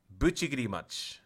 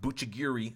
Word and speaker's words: Buchigirimachi: I try to say it the real way, like the Japanese way. I think that's the way Goresh says it. So, Goresh, if you're watching, did I say it right? Buchigirimachi. It's not Buchigiri. I hate when people say that.